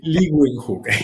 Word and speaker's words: Leeuwenhoek: Entonces, Anton van Leeuwenhoek. Sí, sí, Leeuwenhoek. Yo mi inglés tampoco es muy bueno, pero se pronuncia más o menos así.